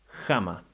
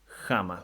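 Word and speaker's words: ἅμα: Words that could serve as an example could be, for instance, jama for the rough breathing, jama, which means at the same time, something done right at the same time as some other action.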